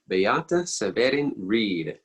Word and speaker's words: Beata Seweryn-Reid: your host and i'm happy to welcome today bayata severin reed she is from poland but living in colorado